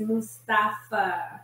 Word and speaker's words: Mustafa: pronounce it beforehand so can you tell me how do you pronounce your last name oh absolutely it's mustafa okay that's what i thought most people think about